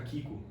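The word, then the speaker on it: Chicco: sei se você conhece a marca Kiko você se escreve Chico né mas aí como ela é italiana você fala que E aí eu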